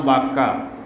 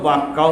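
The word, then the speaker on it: بكة: ভাষা ছাড়তে পারে নাই আর দেশের লোকেরা মিমকে বা উচ্চারণ করতো বা বলতো পাবলিক যেহেতু বাক্কা বলতো আল্লাহ কোরআনে কারীমে বাক্কা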